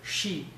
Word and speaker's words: și: We'll say, și am fost undeva, whatever. She is S-I, but it has this thing, so you have to pronounce it she.